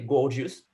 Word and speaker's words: Gorgias: Exactly, because there are maybe, I would say 100 pronunciation for Gorgias, but yes, some people say gorgeous. What is totally okay.